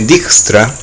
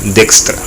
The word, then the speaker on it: Dijkstra: ciencias de la computación yo voy a pronunciar de extra pero durante muchos años no conoce dijkstra tal cual se lee en castellano y como seguramente lo van a escuchar nombrar muchas veces pero en las grandes la pronunciación correcta sería de extra es posible que se